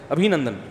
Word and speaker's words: ابھی نندن: کسی نے بتایا ابھی نندن ہے, ابھی نندن نہیں ہے, صحیح تلفظ کیا ہے بھائی, ابھی نندن, تو وہ اتار لے گا اس کو.